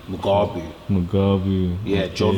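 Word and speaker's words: Mugabi: I can't get this wrong because I watch this fight every day, but I think it's my pronunciation how I'm saying his name. Mugabu. Yeah, okay. John Mugabu.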